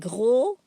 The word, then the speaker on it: gros: Okay, mignon, like adding a G, a letter G, and gros, the S is silent.